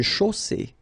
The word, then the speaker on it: chaussée: Une chaussée. Okay, here, final E not pronounced.